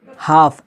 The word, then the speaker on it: half: यहाँ पे एल के बाद डी आया है तो एल साइलेंट हो गया। हाफ, HALF, हाफ, हाफ का माना होता है आधा, यहाँ पर भी क्या हो गया, एल साइलेंट हो गया।